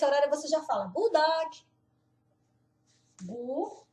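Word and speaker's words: god dag: Quando vai passando desse horário, você já fala good do Gu. Lembra que não fala o D? O dog. A gente fala o ded do o g do dog. O dog.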